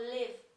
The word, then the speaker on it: live: życie nie Live bo Live to mieszkać Ale Live pamiętajcie żeby wyraźnie wymawiać na końcu w aby właśnie z życiem